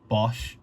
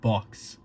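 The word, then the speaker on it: Bochs: In the past, I used to call it Bosch, but it turns out it's pronounced box.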